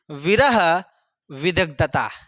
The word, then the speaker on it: विरह विदग्धा: तो उसे बोला जाता है कि विरह विदग्धता। विरह विद आधा ग और धा है, ठीक है, विरह विदग्धा, ठीक है, विरह विदग्धा, ठीक है।